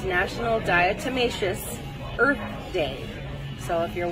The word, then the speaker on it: diatomaceous: It's National Diatomaceous Earth Day.